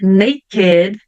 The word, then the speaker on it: naked: bom sempre tem exceções então aqui a palavrinha naked crooked Wicked elas vão ser pronunciadas ou Ed Mesmo não tendo a terminação com a letter d ou com a letter t tá então naked crooked